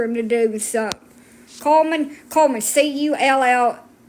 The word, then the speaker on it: Cullman: Coleman, Cullman. I know my accent makes it sound like I'm saying coal.